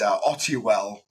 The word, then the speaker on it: Ottewell: It's Ottewell is the official name to pronounce it, but I added an R for the Americans because Americans decided to always butcher it, so I always added the R.